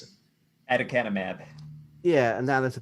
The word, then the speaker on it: aducanumab: Michael can pronounce it. Aducanumab.